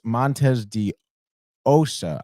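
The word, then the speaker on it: Montes de Oca: And then Bryce Montes de Osa, I believe, is how it's pronounced.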